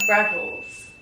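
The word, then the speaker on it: Revels: I love rebels. How do you say that? Rebels. How do you spell that?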